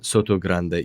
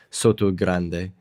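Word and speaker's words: Sotogrande: that right this time Soto Grande yeah because we always mess up with the T there we pronounce it like we would in English Soto Grande and then on the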